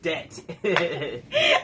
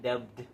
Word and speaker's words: debt: Not dubbed. It's not pronounced how it's spelled.